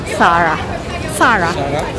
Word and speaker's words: Zara: yung Zara na store It's Spanish so it's actually pronounced as sara sara kasi ba yung yung